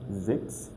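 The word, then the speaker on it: sechs: So where you're going to find CHS, so you're going to replace it with X, like X. For example, we have this word vaccine. Vaccine meaning to grow. We have Zex. Zex meaning number 6.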